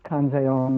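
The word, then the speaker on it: Kanzeon: for avalokiteswara of course pronounced in the japanese syllables kanseon or kanon and um she is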